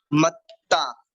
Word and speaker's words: मत्ता: सबसे पहले मत्ता, इसमें डबलता बने हुए हैं, इसमें डबलता बने हुए हैं, तो इसमें ता पर थोड़ा सा जोर लगाना है, मत्ता।